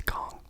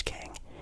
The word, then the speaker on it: Kang: I think it's Kang. I've heard people pronounce it as Kong, kind of weird, but it's Kang the Conqueror.